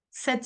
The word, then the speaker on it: cette: Cette pratique, ah, c'est le T qu'on entend.